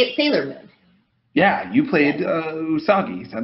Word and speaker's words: Usagi: Yeah, you played Usagi. Is that how I pronounce it? I am playing Usagi.